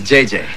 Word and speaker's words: JJJ: And this is JJ. It's actually JJJ, but the third J is silent.